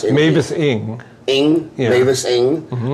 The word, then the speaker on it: Mavis Ing: It's Ira's in there, Mavis, how do you pronounce it? Mavis Ing.